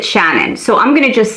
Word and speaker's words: Shanann: father or the husband shenan now i heard an interview with her mom i always hear people pronounce her name differently her mom pronounced it shannon so i'm gonna just